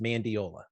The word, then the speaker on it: Mandiola: It's actually spelled the way it's pronounced, Mandiola.